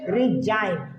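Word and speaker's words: resign: इसको बोलेंगे रिजाइन, क्या बोलेंगे रिजाइन, जी आपका क्या है, साइलेंट है।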